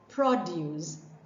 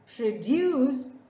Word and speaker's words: produce: is a noun but they are pronounced distinctly differently produce produce produce produce the farmers produce